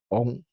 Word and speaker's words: AUN: That's what, AU, then you can spell, then, when you actually enunciate, you can spell with the AU, but you pronounce with the O sound, On.